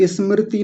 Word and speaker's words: स्मृति: चला जाता है तो स्मृति नहीं होता स्मृति स स से शुरू करेंगे और वो भी आधा स होता है स्मृति स्मृति स्मृति ऐसे